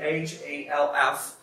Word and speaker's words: half: Agora que eu percebi que eu não falei sobre half, tem aqui H-A-L-F, que não pronuncia, a gente não pronuncia o L, então a gente pronuncia half, significa meio ou metade.